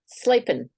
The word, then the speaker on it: Slapin: Slapin.